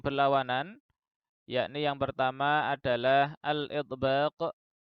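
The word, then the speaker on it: الإطباق: Dari kriteria ini muncullah dua buah sifat yang berlawanan, yakni yang pertama adalah al-idbaq, dibaca dengan tahqiq karena hamzahnya adalah hamzah qata'.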